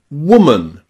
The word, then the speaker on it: woman: Okay, the seventh way that we can pronounce O in English is O. O. Like in the word woman. Wo. O. Woman.